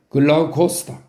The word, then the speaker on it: 글라우코스: 글라우코스다. 글라우코스. 글라우코스는 글라우쿠스의 그리스식 발음입니다.